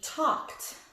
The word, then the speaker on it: talked: Or another word could be talked. I talked to my mom yesterday. Sounds like a T, but it's not.